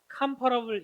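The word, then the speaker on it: comparable: 그리고 얘는 뭐라고 했냐면 컴페어 l 비교 하다 라는 동사의 명 아 형용사 할텐데 칸 파업을 이라고 발음합니다 칸 펄을 피칸 팔아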